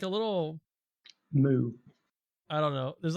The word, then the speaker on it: moue: Moo.